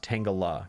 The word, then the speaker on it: Tangela: around there oh tang tangela is pronounced tangala gotcha um ditto what